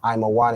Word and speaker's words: Ammon: To say ammon is I'm a right. I'm aan is how you say ammon in Hebrew.